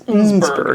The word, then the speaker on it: Innsbruck: It's not not Innsbruck, Innsbruck, it's Innsbruck.